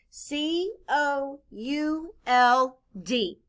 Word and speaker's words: could: spell it out loud c o u l d in this word the letters o u stand for the uh sound the letter l is silent blend with me could